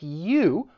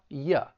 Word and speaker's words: you: Now we can use the schwa in very common words like you, which has two different pronunciations. Both are accepted when it's stressed, you. When it's unstressed and we say it with the schwa, ya.